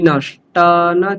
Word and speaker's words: नष्टान्: ওখানে তিয়ান তারপর নষ্টিয়ান এরকম জফলা উচ্চারণ হচ্ছে আপনার, সেটা করা চলবে না। হ্যাঁ, শুদ্ধ আকার তান নষ্টান, ঠিক আছে?